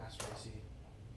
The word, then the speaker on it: Asteraceae: It's I forget how to pronounce that family name. Asteraceae? Yeah, Asteraceae.